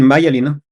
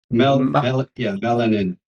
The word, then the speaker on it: myelin: So you have to work on myelin. Myelin? Melanin. No, myelin.